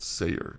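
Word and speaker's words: Seir: eight CR rough rough CR Ayer okay that's how you say it Sayer Sayer a mountain of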